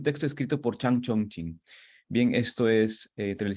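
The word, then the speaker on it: 經: nein que está en chino tien un caracter que es el carácter de Chin así se pronuncia chin en primer tono eh pero el texto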